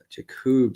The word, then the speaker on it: Jacob: Jacob says, just gotta say it's pronounced Jacob. Oh, okay, so it's Jacob.